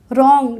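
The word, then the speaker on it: wrong: silent होता है जब आर से पहले डब्लू आता है तो क्या होता है उसमें डब्लू साइलेंट होता है कैसे होता है देखिए मेरे साथ रंग डब्लू आर ओ एन जी रंग क्या पढ़ेंगे इसको रंग पढ़ेंगे रंग नहीं पढ़ेंगे रंग नहीं पढ़ेंगे क्या पढ़ेंगे रंग राइट रप रप पढ़ते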